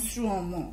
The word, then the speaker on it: শ্রম: এই জাতীয় আমরা রফলা যুক্ত শব্দ পাই যেমন শ্রম শ্রম শব্দের উচ্চারণ ঠিক দন্তস্বর অফলকার ম হস্রন্ত শ্রম শ্রম আবার আসো যেমন শ্রবণ শ্রবণ শব্দটার উচ্চারণ আমরা